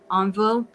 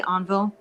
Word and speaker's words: Envol: I say Envol. You say it right, envol. Okay, because I actually Googled how to say this in French, and that's so I was like Envol. I think that's how you say it, not Envol. Envol.